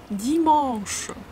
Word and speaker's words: dimanche: When you pronounce dimanche, you first finish the sound, the nasal A, mon. Only then you pronounce sh.